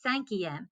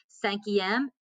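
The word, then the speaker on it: cinquième: okay so once again if it ends in a q you're gonna add that u before you add on that em so then that is gonna be sanki m senki m is like i said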